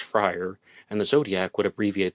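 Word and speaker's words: Fryrear: had the maiden name frier spelled f r y r e a r but pronounced frier and the Zodiac would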